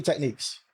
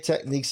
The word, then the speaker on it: Technics: Technique or techniques. Uh, it's with a S. I prefer with the S. People just say technique because to them the S is silent.